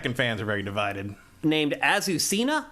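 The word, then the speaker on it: Azucena: are very divided named azusena I believe is the correct way to say ausa um and she is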